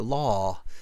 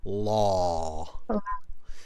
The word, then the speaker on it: law: in the University for Law, right? yeah, Just pronounce this word for me, Kenjaeva. Law. Okay. law. Really drop the ah. So law, not la, law.